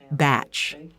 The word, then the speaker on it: bach: It's spelled like Bach, but pronounced batch.